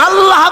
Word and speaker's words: আল্লাহ: আল্লাহ আল্লাহ পাকের উচ্চারণটা হচ্ছে আল্লাহ পাকের নামের উচ্চারণ হচ্ছে আল্লাহ মুখটা একটু গোল হয়ে যাবে বলেন আল্লাহ আল্লাহ সুবহানাল্লাহ।